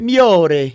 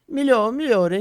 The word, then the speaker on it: Migliore: Falei certo? A pronúncia é essa? Miore. É miore. Né? Migliore. Migliore. Aí tá vendo, miore.